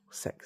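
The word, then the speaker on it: CeX: cuz I know how CX works. Sex as it's actually pronounced.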